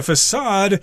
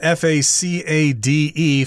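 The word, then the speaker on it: façade: this word is spelled f-a-c-a-d-e facade sometimes there's a little squiggle under the letter c there to tell us that that c is supposed to be pronounced as an s facade just basically the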